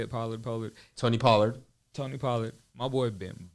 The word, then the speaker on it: Pollard: Pollard.